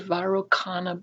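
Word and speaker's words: Vairocana: the buddha that is called the varroa chana buddha you'll also hear it pronounce the varukhana buddha and the vairochana buddha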